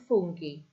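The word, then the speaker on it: funghi: Notice again we have that h in the middle of our um ending because again if we try to have a g followed by an i, it would make it fun, which doesn't sound particularly appetizing. So we've added the H in to make it funi.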